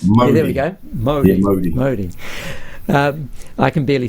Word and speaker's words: Māori: Māori. M-A-U. Mo, as in Mo Greens? Māori. Mo. Yeah, Mo Greens. Yeah, there we go. Māori.